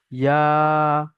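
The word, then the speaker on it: ي: জিভের মাঝখান আর তার বরাবর উপরের তালুর সঙ্গে লাগিয়ে একদম পুরো চেপে উচ্চারণ হবে। জিম, শিন, ইয়া।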